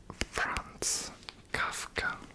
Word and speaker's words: Franz Kafka: So the last book is a book that is from, I believe the pronunciation is Franz Kafka. Franz Kafka.